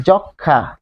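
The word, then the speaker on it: যক্ষ্মা: এটা দুই যক্ষা যক্ষা ম এর কোন অস্তিত্বই নাই ফলে এখানে আমরা কিন্তু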